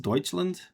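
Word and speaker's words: Deutschland: Because Dutchland is is the way you write it, but it's pronounced Deutsland or something like that.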